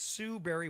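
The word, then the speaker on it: Sue Barry: Most people think berry is spelled like a fruit or Halle Berry, but no, it's Sue Berry with an A, like soul singer Barry White's first name.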